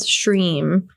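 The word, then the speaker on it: श्रीं: Shrim is the bij, the seed sound of Lakshmi. So it's like her sound. Shrim.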